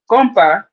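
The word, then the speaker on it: Kompa: It's spelled Kizom as in Mary, BA, Kizomba. And then I also take compa dance classes, KON as in Nancy, PA.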